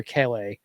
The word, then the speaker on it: Kele: And then we have the Is it Keley or Kle? Kle. I I feel like Jeff pronounced it like three different ways throughout that.